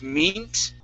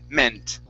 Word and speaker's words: meant: Instead of meant, okay, meh, short E, meant.